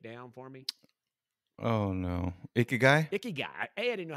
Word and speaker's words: Ikigai: Ikigai. Laura, is that the correct pronunciation?